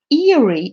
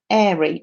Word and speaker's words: Erie: might pronounce this wrong is it eerie in pennsylvania or airy i'm going to pronounce it erie i looked down at